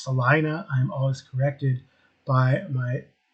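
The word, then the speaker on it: Celina: c e l i n a it is pronounced Salina I'm always corrected by my sisterin-law who lives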